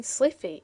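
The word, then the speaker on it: slithy: The I in Sliffy is long as in writhe, and Toves is pronounced so as to rhyme with groves.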